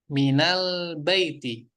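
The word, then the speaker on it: مِنَ الْبَيْتِ: Orang Arab bacanya dengan fathah di kata min ini menjadi minal baiti.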